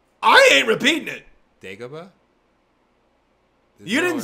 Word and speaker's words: Dagobah: Dagobah?